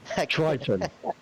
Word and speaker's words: Triton: Can someone pronounce that to me? Triton.